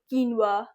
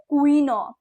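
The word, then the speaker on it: quinoa: ओ हो किनवा ब्रश प्रस okay let's कीनवा कीनवा नॉट क्वीनो इट इज़ नॉट क्वीनोआ इट इज़ नॉट क्वीनोवा इट इज़ नॉट क्वीन एंड नोवा different it इज़ कीनवा कीनवा नॉट क्वीनोआ we promise not a typo या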